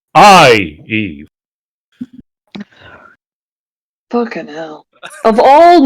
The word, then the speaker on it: Ieve: It's There's a- IEVE. It's like literally the same, but it's more like a Roman emperor. Eve.